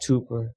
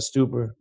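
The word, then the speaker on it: Stuber: And this is where I have to give out a shout out to Ted Sranos, Scott Tuper, Scott Stuper, excuse my language. Excuse me. Been mispronouncing your name.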